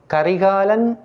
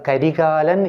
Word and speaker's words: கரிகாலன்: அப்போ யாரும் கரிகாலன் என்று உச்சரிக்கக்கூடாது, கரிகாலன் என்று தான் சொல்ல வேண்டும்.